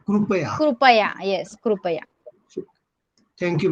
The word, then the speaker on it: कृपया: मराठीमध्ये आपण कृपया म्हणतो. Yeah, because in Hindi we say ritu, and I think in आणि Marathi मराठीमध्ये ऋतू म्हणतात. येस, येस. So we should pronounce as a krupaya.